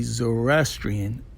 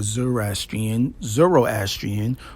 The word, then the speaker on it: Zoroastrian: Now, in that region, most likely your ancestors would be Zoroastrian, or Zoroastrian, or Zoroastrian. There's a few ways to pronounce that culture's name, and they follow the laws and guidelines of Ahura Mazda.